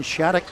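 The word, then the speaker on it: Shattuck: Shadic s h a tt u c k pronounced shadic not yel not yell yel whatever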